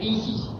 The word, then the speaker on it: Isis: mantran de los misterios que se pronuncia Isis en dos se reparte en dos sílabas y así se pronuncia el man Isis la s es como un silvo dulce y apacible al hacerla al entonar